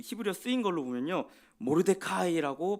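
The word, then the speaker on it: מרדכי: 모르데카이라고 발음을 합니다.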